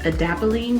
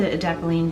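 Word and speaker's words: adapalene: is the proactive md i think it's pronounced edapoline gel it's an acne treatment gel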